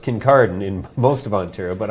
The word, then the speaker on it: Kincardine: to seven acres it's in Kincardine which is pronounced Kincardine in most of Ontario but I prefer to think of it as Kincardine Kincardine yeah it's a long way to go